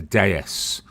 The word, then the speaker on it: DS: It's the original uh Citroen DS or as it's uh truly pronounced uh the DS.